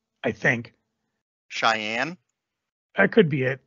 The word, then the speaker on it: Cheyenne: where every shot counts with a lone gun Che enny I think Cheyenne that could be it c-h-e-y-e-n-n-e yeah Cheyenne okay thank you because I I